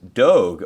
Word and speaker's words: Dogue: Pronounced like Vogue, Dogue opened last month in